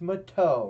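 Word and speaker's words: Matteau: With Gerby, and with his 6th assist, and Mateo with his, No, you say his name right, it's Mateo.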